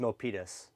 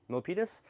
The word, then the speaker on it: Milpitas: I think it's pronounced Milpitas. Milpitas?